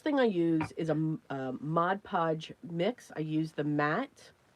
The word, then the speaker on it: Mod Podge: Just a coating of the Mod Podge and water. And please excuse I say Mod Podge wrong sometime. I go Modge Podge.